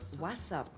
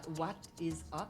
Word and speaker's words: WhatsApp: s s P wasap ça se prononce WASP was was je sais pas c'est espagnol comment on dit ça WhatsApp c'est dans le sens de WhatsApp WhatsApp boxbnny disait ça WhatsApp ah what'sapp what is up ah what what comment